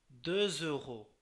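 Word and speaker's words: deux euros: এটা বলে je dois 2 euros, 2 euros à Paul, এখানে এক্সট্রা জ উচ্চারিত হয়ে যাচ্ছে।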